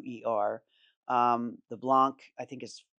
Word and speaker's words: Tauer: The Holler Tower is spelled like German, Okay. Tauer.